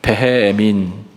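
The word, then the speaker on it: וְהֶאֱמִן: 자, 제가 발음해 볼게요. 베헤에민. 뭐랑 비슷한 것 같아요? 베헤에민. 따라하는 게 아니고요. 무슨 말 같냐고 물어보는 거예요. 베헤에민, 베헤에민, 아멘.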